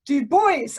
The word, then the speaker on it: Du Bois: Du Bois, as I now know he is pronounced.